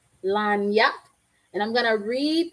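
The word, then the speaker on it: lagniappe: This is I believe this is a French word, and it's pronounced lagnac. Lagnac.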